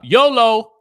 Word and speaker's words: YOLO: baby live it up YOLO rhymes with bolo you only live once